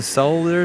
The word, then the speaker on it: solder: Just in case Dave Jones is watching, we'll pronounce the L in solder today.